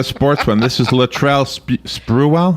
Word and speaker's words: Sprewell: This is Latrell Sprewell.